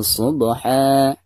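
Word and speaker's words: صبحا: Pertama, huruf ba-nya kita qalqalahkan, karena ini dihukumi qalqalah sugro ya. Subha. Adapun ketika diwaqafkan, ini juga sama, dihukumi mad iwad. Cara membacanya pertama hilangkan suara tanwinnya, lalu digantikan dengan bacaan panjang 2 harokat.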